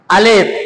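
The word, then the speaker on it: ألف: আলিফ আলিফ আলিফ আলিফ পরে এরকম ঠেসে ধরবেন না এরকম ঠেসে ধরা যাবে না বাতাসটা বের করে দেবেন আলিফ আলিফ আলিফ আলিফ আলিফ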